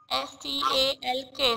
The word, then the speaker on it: stalk: S-T-A-L-K. Stalk. L is silent.